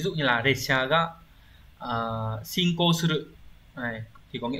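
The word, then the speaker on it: 進行: Từ này đọc là shinko.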